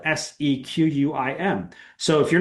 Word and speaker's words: Sequim: I live in a tiny little town called Sequim, Washington. If you looked up Sequim on a map, you would not realize that it says Sequim, right? It's spelled Sequim.